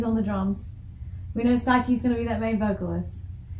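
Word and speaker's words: Saiki: and vocals spokesperson psyche so psyche was the one I was a little shaky about on her name but it is psyche psyche vocals Misa bass Konami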